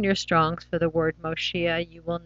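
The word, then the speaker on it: מושיע: And it modifies the way the whole word looks, and we pronounce it Moshia.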